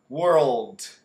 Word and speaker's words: world: sou eu reis o seu professor de inglês world world que a palavra mundo que fala o